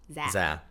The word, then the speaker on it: Zé: So, when we first saw his name, we thought it was Zé. Cuz it's Z E. Yeah. But it's pronounced Zé.